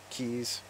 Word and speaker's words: quays: house is near the quays keys why they pronounce it that way north of the pride